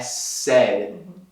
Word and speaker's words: said: Ele falou, ou até mesmo eu falei, é said no passado. E said rima com dead, morto.